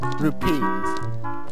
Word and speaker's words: rupees: all his rubies rupes oh rupees not rubies rupes yeah they're pronounced rupes not rubies cuz that doesn't make sense so I'll